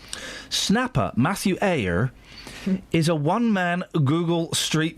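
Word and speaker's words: Eyre: How do you say that? E Y R E. Oh, like Janeire.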